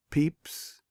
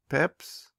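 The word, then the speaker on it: Pepys: and so you see he made a name whereon the critics sometimes pounce it hardly ever sounds the same it is so easy to pronounce but still there is an hour or so of pleasure for the man who dips into his book and comes to know good Samuel peeps peps or Pips end of section 16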